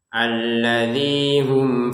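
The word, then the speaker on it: الذي هم: Baik, di ayat yang ketiga ini yang penting itu adalah alladzi hum. Alladzinya ini dua harakat panjangnya. Jadi jangan lebih dari itu. Kalau kita baca alladzi hum itu lebih ya didayu-dayukan, dicengkok-cengkok itu enggak boleh. Cukup dua harakat saja. Alladzi hum begitu. Jangan alladzi ah dicengkokkan alladzi hum enggak boleh. Jadi dua harakat ya.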